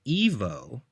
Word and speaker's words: Ivo: So they were pronouncing it as Evo. Although the cartoons that he's been in or mentioned in, they say Ivo.